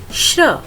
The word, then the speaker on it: श्र: जैसा कि हम इसका उच्चारण भी करते हैं श्र, तो श में र की ध्वनि हमें सुनाई दे रही है।